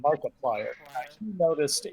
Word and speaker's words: Markiplier: Markiplier.